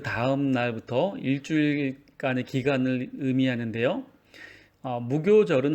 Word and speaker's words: 무교절: 무교절은 한자로 없다라는 무와 이제 발효할 때의 효를 씁니다. 근데 여기서는 교라고 읽죠.